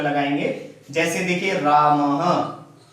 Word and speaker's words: रामः: ह का आधा समय हम इसको बोलने में लेंगे, ह के समान उच्चारण करेंगे, ह। रामः, क्या उच्चारण करेंगे?